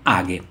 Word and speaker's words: age: all'istante cose belle di ha hagh che si scrive AG Io all'inizio pronunciava age in realtà poi ho scoperto che si pronuncia ha perché direttamente il suo creatore lo specifica all'interno del sito ha è uno strumento